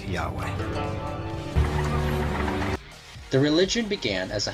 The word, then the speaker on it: Yahweh: and his name was these four letters which in English would be yhw H which we think were probably pronounced something like Yahweh the religion began as